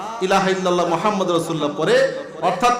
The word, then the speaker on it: মুহাম্মাদ: ফাতেহা শিক্ষা দিয়েছেন ঠিক কিনা বলেন ঠিক দেখেন মুহাম্মাদুর রাসুলুল্লাহ মুহাম্মাদ শব্দের অর্থ হলো প্রশংসনীয় কি বলেন